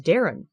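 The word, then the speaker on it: Daeron: Uh, I'll say, uh, his name is spelled strange, but it is pronounced normal. It is Darren.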